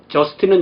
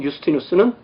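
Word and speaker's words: Justinus: 또 예를 들자면 저스틴은 영어 이름이고 유스티누스는 그 라틴 발음입니다.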